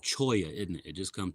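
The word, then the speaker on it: cholla: I think it's called Choya, isn't it? It just come to me. I always say Chola, but I think it's pronounced Choya.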